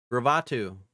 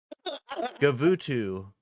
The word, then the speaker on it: Gavutu: Gravutu. Gavitu? There's no R in that? Yeah. Oh, fuck. I've been saying it wrong forever, bro. Gavutu.